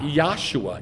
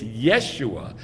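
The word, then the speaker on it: ישוע: So we have undisputable proof that the name of Yeh-ho-shua, full, if you shorten it, it is not Yahshua. It's Yeshua.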